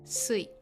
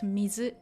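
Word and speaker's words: 水: The reading changes and mizu or sui is pronounced sui, not mizu in this case.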